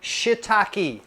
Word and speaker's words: shiitake: I bought them anyway make sure you say shitake three syllables don't make it two syllables and you'll get bleep